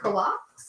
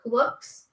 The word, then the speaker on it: kulaks: They were called kulaks or kuluks. This is how you spell it.